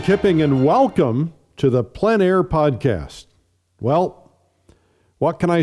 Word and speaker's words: plein air: This is the PleinAir Podcast with Eric Rhoads, publisher and founder of PleinAir Magazine.